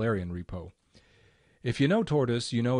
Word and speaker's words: Tortoise: clipboard let's look at tortoise or torte woz SVN depending on how you pronounce it is it's quite